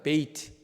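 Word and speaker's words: בית: 발음 안 해봤어요? 한번 따라해볼까요? 베이트. 첫 번째 그림 한번 보여줄까요? 첫 번째 그림, 베이트.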